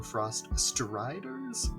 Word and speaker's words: Frost Striders: I always mix up in my brain whether it's Frost Riders or Frost Striders, but it's spelled Striders actually. So Frost Frost Striders.